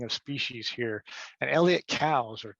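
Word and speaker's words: Coues: species here and elliott cows or coos some people will say cruz but it's pronounced cows he said so himself in one of his books where the uh the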